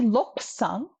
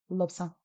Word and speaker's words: Lobsang: We don't say lopsang, we say lobsang.